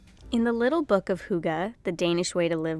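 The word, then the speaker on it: hygge: I was pronouncing it wrong and it's actually pronounced Huga it's a Danish practice of finding cozyness and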